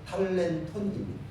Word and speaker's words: 탈렌톤: 오늘 본문의 말씀은 우리가 잘 알고 있는 탈렌톤이라고 하는 제목 비우입니다. 원래 달란트 이렇게 말하잖아요. 근데 원 발음은 탈렌톤입니다.